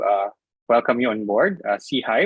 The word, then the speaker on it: SIHI: welcome you on board see high which we pronounce as see high uh stands for social